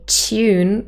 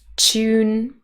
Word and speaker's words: tune: test you can do you can ask them to pronounce the word tune if they say tune with a ye or a j tune those are probably people from Britain maybe USA from